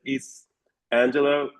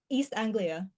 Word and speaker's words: East Anglia: Uh she has an MA in creative writing pros fiction from the University of East Angela. And how do you pronounce that word? East Anglia Anglia when she was awarded the Malcolm